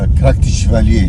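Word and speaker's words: Krak des Chevaliers: इस गांव के जस्ट ऊपर ही Krakdes Chevaleres, how do you pronounce it? Krakdes Chevalier.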